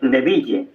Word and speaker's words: Neville: El hermano Nevil se escribe Neville, pero más o menos se pronuncia Nevil, ¿verdad?